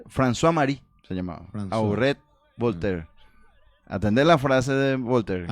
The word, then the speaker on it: Voltaire: del y talla de voltaire no se pronuncia voltair voltaire voltaire nuestro lema de luto